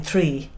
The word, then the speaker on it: three: say a tree tree well if you were saying it right I'm not knocking the way you're talking or anything but if you were saying it the way it's meant to be pronounced You' be saying three yeah so You' be saying